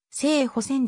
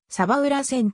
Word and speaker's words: 鯖浦線: 鉄道路線である正式な読み方は生保戦であるがサバ裏前とも呼ばれた当初鯖裏元気